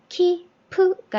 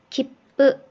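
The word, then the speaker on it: きっぷ: 밑에도 키프가 아니라 기쁘 여기는요 가코우가 아니라 가꼬 요렇게요.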